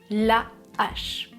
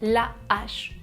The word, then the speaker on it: hache: Avec un H aspiré, il n'y a pas d'élision. Je laisse le mot en entier, la H. Attention, je bloque le son, la H.